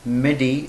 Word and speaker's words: MIDI: following ones the first one is that i pronounced as midi in bed reduction this midi the full form